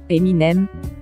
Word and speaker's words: Eminem: un nom de scène Eminem d'où ça vient tout simplement de ces initiales et plus précisément de la prononciation M&M a prononcé vite et avec l'accent anglais 5 Snoop Dog de